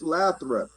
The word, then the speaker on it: Lathrop: yeah, it's Lathrop.